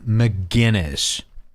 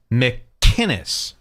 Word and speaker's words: McInnes: a rag gavin mcginnis the man goes out of his way to pronounce it how it's written mckinnis mick kinnis and all of these losers keep saying mcginnis mcginnis it's a totally different name gavin hates that by